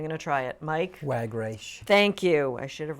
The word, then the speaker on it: Wagreich: Mike Wagreich. Thank you. I should have written it phonetically.